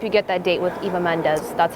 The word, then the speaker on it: Eva Mendes: you I hope you get that date with Eva Mendes that's how you properly pronounce her name she has her hand on